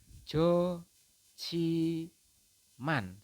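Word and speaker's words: 좋지만: seperti itu, Jo Jiman, tetapi ini salah, teman-teman. Yang betul adalah Anda membacanya haknya tidak terbaca, jadi Anda cukup membaca Jo saja, kemudian hak bertemu dengan jiet, maka jiet berubah menjadi ciet ya, teman-teman ya. Jadi Anda membacanya adalah Jo Chi Man.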